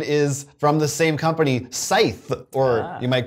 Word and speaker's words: Scythe: my number 18 is from the same company scythe or you might call it scythe it's up to you what's the right way to pronounce it do you go with the dictionary or us so sight this is also from stone mired games and